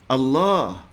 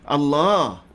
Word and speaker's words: Allah: Ustaz nak tambah sedikit dalam sebutan memang perlu kepada dipanjangkan Allah tapi dalam tulisan bila kita tulis sebaga mana biasa a Dou a a h hanya satu a Allah Tapi bacanya Allah boleh tak dosa ini